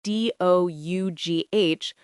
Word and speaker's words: dough: There's also the word dough itself, spelled D-O-U-G-H, with a silent G-H. English really loves silent letters in the kitchen. The pronunciation is just dough, like the animal.